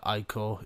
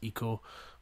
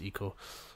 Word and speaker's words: Ico: was I call it IO even though I know it's pronounced Eco but I just always